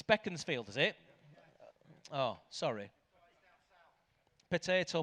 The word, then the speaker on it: Beaconsfield: It's Beckensfield. Is it? Oh, sorry. Potato potato. It's Beckensfield apparently.